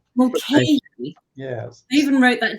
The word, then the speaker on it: Mulcahy: We have Mulcahy. That's how they say it in Ireland, actually. Did I say it? Mulcahy. Mulcahy.